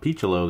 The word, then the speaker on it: Piccolo: It is, in fact, Piccolo, not Piccolo or Picciolo or whatever else people might want to call him. But on MLB, they called him Piccolo.